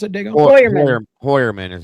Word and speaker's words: Heuermann: What do you How did you pronounce it Digger? Heuermann. Heuermann is how it's actually pronounced.